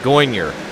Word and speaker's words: Goyner: Yeah, Goyner is how you pronounce it.